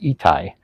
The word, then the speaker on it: Itai: So, and my name is pronounced Itai, if anyone doesn't know me yet, which I doubt here.